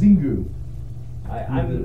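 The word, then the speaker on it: Xingu: It's pronounced Zingu.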